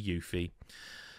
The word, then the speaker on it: Yuffie: Always Yuffie to me, but it is apparently Yuffie.